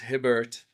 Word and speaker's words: Hibbert: The America, it's spelt Hibb or Hibbert, which is Hibbert in American language.